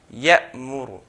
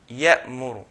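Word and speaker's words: يأمر: next letter, the meem, if you notice, there's a gap. Ya'muru, ya'muru. Okay, it's not going to go and connect to the next letter straight.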